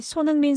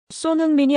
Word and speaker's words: 손흥민: 경기를 보던 손님들 중 몇몇은 이민 2세대 청년들이었는데 놀랍게도 그들 대부분이 손흥민 선수의 이름을 한국식으로 또렷하게 발음하고 있었어요. 소흥민이 아니라 손흥민.